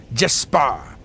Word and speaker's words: Jespar: Jespar. Like a sparring partner. Just spar.